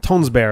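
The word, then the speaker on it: Tønsberg: they attack tones bear tones bear is apparently the pronunciation the G is the G is like really soft and almost silent about it was this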